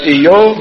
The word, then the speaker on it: Iyob: The land of Uz, whose name was Iyob, mispronounced by everybody, that's Job, so I guess we'll stay with that.